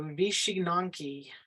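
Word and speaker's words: wycinanki: the paper with scissors it's called the she nanki vishi nanki it's spell called very differently than that that pronunciation it's w-y-c-i-n-a-n-k-i so vishi nanki it's popular from the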